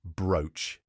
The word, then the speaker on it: brooch: are blood and flood finally we have a short vowel sound that rhymes with coach and roach the only word you need to remember here is brooch don't forget to visit